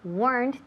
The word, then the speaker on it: weren't: So one syllable. Weren't. Weren't. No me digáis weren't ni weren't. No, weren't. Aplastamos esa extra sílaba, la E que queda ahí.